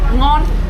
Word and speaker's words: ngon: How do you say non? Non? Ngon. Non? Non. Delicious. Taste delicious, Yeah. yeah. Ngon, ngon. Non? Non. It's non. You have to say like in a straight way, not up or down.